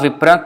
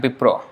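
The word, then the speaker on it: বিপ্র: Kiba Vipro. It is not wrong to say Vipra also. So Vipra is okay. Vipra and Bipro is same.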